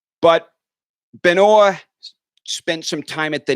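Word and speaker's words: Benoît: If what you're telling me is true, he's not pronouncing it correctly because he's not saying Benis. But Benoa spent some time at the net as well.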